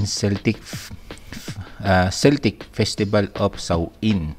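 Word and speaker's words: Samhain: back to the Celtics festival of Sain pronounced Sain yan which was celebrated around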